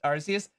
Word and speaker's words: Arceus: it's pronounced Arceus, but I can already hear so many people on the internet going, it's not pronounced Arceus. It's Arceus.